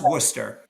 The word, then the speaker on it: Worcester: and raised there my grandparents Wester it's actually pronounced Worcester it's called English Worchester is in England Worchester is in England Worcester